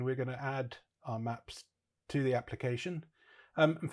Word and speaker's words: Mapsui: So, instead, I've decided to use um an open source option, which is called um maps or maps ueIe, it looks like, but they say it should be pronounced maps.